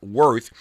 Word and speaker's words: WRTH: Worth is how it's pronounced.